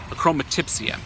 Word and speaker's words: achromatopsia: Neil is an artist who was born with a unique condition called, I'll say it correctly, achromatopsia, which means he was unable to actually see colors at birth.